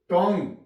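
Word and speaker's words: tongue: यहां पे you silent टंग टंग टी ओ एन जी यू ई यहां भी यू के बाद ई आ गया है और you silent check C एच ई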